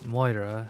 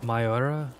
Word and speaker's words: Mayora: But I've been calling the one resource Moira, and the song at the start it has a very distinct pronunciation of Mayora.